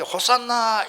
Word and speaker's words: 호산나: 그런데 오늘 여기 호산나 할 때에 대문자를 이렇게 호자를 갖다가 오메가 그다가 탁 이렇게 심표를 하면은 거꾸로 심표를 하면 히읗 발음이 나기 때문에 호산나 이렇게 외치게 된 것입니다.